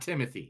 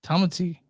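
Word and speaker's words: Timothée: existence you what how do you think they pronounce it Timothy Chan it is not Timothy what is it it's TTI Tomy that's what the O the long AE over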